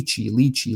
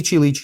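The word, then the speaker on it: lychee: popping up is like Ley leachy Ley or ly both are acceptable as as pronunciations so leey leechy leey and I'm like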